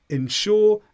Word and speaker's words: insure: Now, the stress here is on sure each time. Insure and insure. When you say them quickly, because the first syllable is not stressed, they sound almost the same.